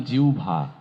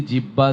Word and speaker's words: জিহ্বা: একইভাবে ভাবে আমরা বলেছিলাম জিউভা এই একই শর্ত অনুযায়ী এই এটি জিহ্বা জিবলা এগুলো নয় এটির উচ্চারণ হবে জিউভা জিউভায় উচ্চারিত প্রতিটি সত্য